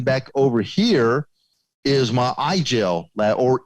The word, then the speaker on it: IGEL: over here is my iGel lab, or Eagle, as it's pronounced in German.